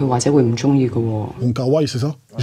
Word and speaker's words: Wong Kar-wai: Wong Kar-wai, c'est ça ? J'ai jamais réussi à se prononcer ce nom. C'est exactement comme ça. C'est comme ça, ça se dit ? Wong Kar-wai.